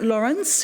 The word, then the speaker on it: Laurens: right right we have lawrence who i was told i could pronounce it as lawrence of arabia so i have that